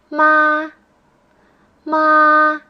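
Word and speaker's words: 妈: the tone Mark yes the first tone is a flat tone and the tone Mark is the straight line it's almost like you're saying you pronounce words that have this tone in a high steady voice for example ma ma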